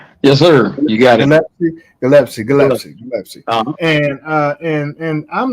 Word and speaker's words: Gillespie: joining us, and that is my brother Stony Gillespie. And did I pronounce that right? Yes, sir. You got it. Gillespie.